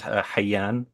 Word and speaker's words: Hayyan: Yeah, and yeah, so my name is Hayyan. That's how you pronounce it in Arabic, but people say Hayyan, Hayyan, Hayyan. I prefer Hayyan though, not Hayyan.